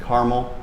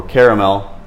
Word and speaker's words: Carmel: We're over at the Pineville Matthews in Carmel, or Caramel Road, depends how you say it.